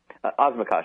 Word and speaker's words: Osmakac: Osmakac is how it's pronounced.